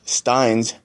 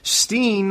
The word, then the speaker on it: Stein: lined up with Steen of the... Stein. I even wrote Stein, not Steen.